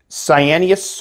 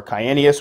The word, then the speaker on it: cyaneus: to house my c cyanus or kyanius whichever way you want to pronounce it to pick these